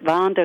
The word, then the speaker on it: Wander: theater The Wander theater in German we pronounced it Vander the but here in America I believe you say wander theater and that was the